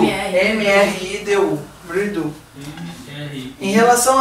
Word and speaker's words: mridu: Mridu. M-R-I-D-U.